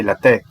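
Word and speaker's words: latik: drink I call Cafe latek Accent on the K latch happens to be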